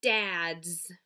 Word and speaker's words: dads: is dads dads oh i hear the z sound at the end of the word i know that the letter s can make two sounds it can say s or z when it's used as a suffix what is the base